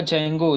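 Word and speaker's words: Django: हाँ हाँ, जेंगो वही है, डी जेंगो, मतलब डी को साइलेंट कर दिया, जेंगो उसको बोलते हैं, या डी जेंगो भी आप बोल सकते हो, तो बेसिकली इसको जेंगो बोलते हैं, ठीक है।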